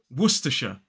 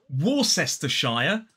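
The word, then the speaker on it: Worcestershire: so this is werer three syllables the stress falls on that first syllable so it's w w then T and aw wer which is actually the name of a city in the UK and then that last syllable is sh wera it is not warshire or worshire it is werer now if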